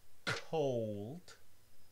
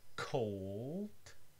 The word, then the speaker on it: cold: In the word cold, cold, you get first an aspirated K and then a dark L, cold. If you pronounce it very slowly, you'll see that the tip of your tongue is not moving towards your alveolar ridge, cold.